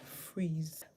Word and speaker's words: freeze: The F makes the sound F, R makes the sound R. Put them together to make a consonant blend. We hear fur, and then E, and Z. Then we have a silent E at the end. So our word is fur, ease, freeze.